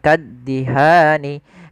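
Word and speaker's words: كالدهان: itu panjang dua harakat maka ketika ada huruf yang dia panjang maaf bacaan dua harakat bertemu dengan huruf nun di akhir bacaan kemudian kita wakaf maka ini kita namakan dengan mad arid lukun panjang nya berapa harakat kita boleh memanjangkan dua harakat boleh pula empat harakat boleh pula enam harakat tapi kita ngambil yang tengah-tengah tidak terlalu panjang dan tidak terlalu pendek maka kaddihan kita coba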